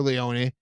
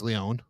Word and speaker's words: Lyonne: Well, Natasha Lyonne, or Leone, whoever you ask how you pronounce her last name, but it's Leone.